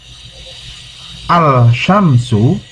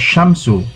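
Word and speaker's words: الشمس: Syamsiah nya proyek sample Al Samsu maka is pronounced as Syamsu dibaca Syamsu tetapi secara penulisan no chance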